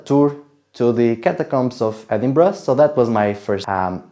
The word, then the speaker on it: Edinburgh: And yes, I said it right, Edinburgh. And if you say it otherwise, some people will get mad, just be aware.